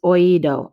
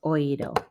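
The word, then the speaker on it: oído: yes it does okay so it's on the i not the o so i'm gonna eliminate this go back to our one note sorry that was just bothering me i want to go up here and fix this okay so it's oido accent on the i oyedo okay any questions so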